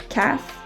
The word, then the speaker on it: calf: um the vowels a o or u precede the l sound it is very commonly not pronounced for example calf half and should and also our first